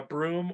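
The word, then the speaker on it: Bruttenholm: father um is a professor blue uh broom or Dr Broom is how you pronounce it um yeah he's either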